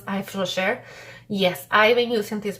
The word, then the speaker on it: Yves Rocher: The brand is called Yves Rocher, or Yves Rocher. I think is most nice to pronounce, Yves Rocher.